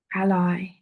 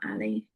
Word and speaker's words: ally: And ally is spelled Al A L Y. Ally. It's not Ali. Mobile. Ali. Ali. Mobile. Alli. It's ally.